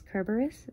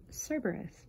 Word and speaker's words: Kerberos: refer to him as kerberos versus cerberus because the greek pronunciation is kerberos sort of like the